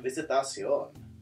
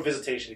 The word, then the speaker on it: Visitacion: My name is Visitacion, or Visitation if you can't pronounce the Sion.